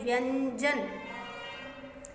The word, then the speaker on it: व्यंजन: व्यंजन, ये जो बिंदी है वो आधा न का उच्चारण कर रही है, व्यंजन।